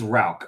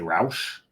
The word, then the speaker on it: Rauch: And it is Rauch. A lot of us want to say Rauch.